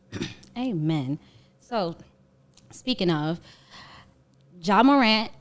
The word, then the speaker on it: Morant: Speaking of, Ja Morant, right?